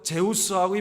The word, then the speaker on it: 제우스: 주스 주스이 주스 주스 주스 이렇게 마시는게 아니라 주스 저기 어떻게 영어로 한번 해봐 우리 저기 민기가 한번 예 뭐라고 저 저기 발음 하 나 아 스하고 제우스 발음을 해 수라 그러 제우스 신을